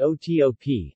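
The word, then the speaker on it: OTOP: government-sponsored economic development program abbreviated TP and pronounced oto P several districts chose revenue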